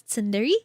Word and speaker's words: Tindere: Um, if you're wondering how to pronounce my username, it's Tindere.